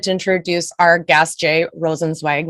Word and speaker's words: Rosenzweig: I'm so excited to introduce our guest, Jay Rosenzweig, which I know I just mispronounced your name. No, Rosenzweig, you got it.